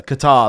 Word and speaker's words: Qatar: It's not Qatar as well. I don't know why people call it cutter. Qatar. That's how it's spelled. It's got a T and it's got an A in.